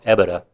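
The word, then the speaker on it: EBITDA: very different number from the epitaph or in Florida we pronounce it a beta up in New York they call it evide and basically that's the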